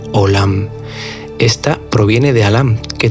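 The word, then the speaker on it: עולם: primer lugar mencionar que la palabra mundo en hebreo se pronuncia o lahm ésta proviene de alhama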